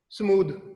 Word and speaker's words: smooth: ये देखिए, आपने कहा SMOOTH, स्मूथ, कहते हैं स्मूथली हो रहा है काम, स्मूथली,